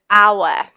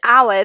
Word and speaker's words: hour: silent in the word hour okay let me switch to drawing mode quickly so when it's used do you see how the word hour the H is silent it sounds like our which then again is